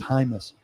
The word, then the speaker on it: Jaimes: His last name is Jaimes, but it's pronounced Hymas, and he's got experience at center as well.